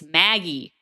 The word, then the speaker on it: Magi: But yeah, it's Maggie. Thank you. It's not Maggie.